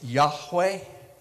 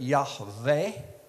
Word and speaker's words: Yahweh: would be pronounced, but you hear it often pronounced as Yahweh, Yud, He, Wah, He. You can hear that, Yahweh, okay, adding some vowel sounds in there. Sometimes you'll hear it Yahweh with a V, because that Vav, that